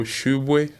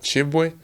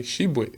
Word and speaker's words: Tshiebwe: that's not me uh my name's like uh in french pronunciation is a french like i'll probably say uh they call it chibwe but it's here to make a little bit easier you can call me shibuya that's as i'll say